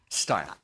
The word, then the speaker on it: Steil: Steil. Am I pronouncing it correctly? Steil.